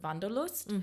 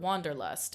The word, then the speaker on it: Wanderlust: a German word uh the word vanderlust we use the word Wanderlust in English meaning the exact same thing we just anglicized the pronunciation but some things um